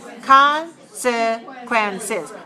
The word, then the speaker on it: consequences: Consequences. 4 syllables with the extra syllable is for the plural.